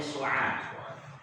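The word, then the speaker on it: سعاد: Kalau dikasih alif setelah ain, maka bacanya su'ad.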